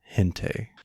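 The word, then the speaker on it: gente: make sense because a G followed by either an I or an E will make an H sound. Uh like in the word hente or gigante.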